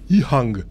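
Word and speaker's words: EHang: C'est Ihang, effectivement, ça se prononce comme ça, parce que je suis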